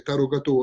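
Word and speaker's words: tárogató: Il tarogato, o meglio la pronuncia esatta sarebbe tarogato, è uno strumento di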